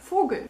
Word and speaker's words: Vogel: The V sound in German is actually pronounced as F, like in der Vogel.